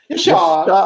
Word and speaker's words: Yashad: You got to say it like a Persian. Yashad.